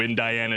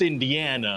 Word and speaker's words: Indiana: you have that new IND Diana Jones script for me yes sir I do well it's pronounced Indiana oh that's right I